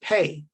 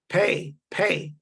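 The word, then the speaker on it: פא: The Hebrew letter for 80s is the word or pronounced pay or pa, pay.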